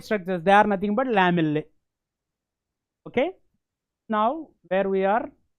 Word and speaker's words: lamellae: These round structures, round, concentric, round structures are called lamellae. L-A-M-E-L-L-A-E. Lamellae. You have to pronounce along with me.